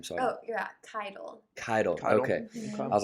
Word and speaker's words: Keitel: you say your last name sorry oh yeah title title okay i was like all right this